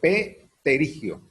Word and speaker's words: pterigio: El pterigio se escribe con P, pterigio.